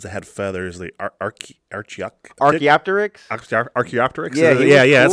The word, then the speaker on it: Archaeopteryx: Archaeopteryx? Yeah, yeah, that's how you pronounce it.